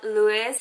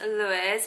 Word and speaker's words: LVIOE: unboxing slash review of this company it's called luis so it's pronounced luis but it looks like this i'm gonna put